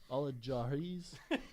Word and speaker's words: Al Jazeera: Al-Jazeera's? Al Jazeera. Al Jazeera. Wow. He's never heard somebody pronounce Al Jazeera.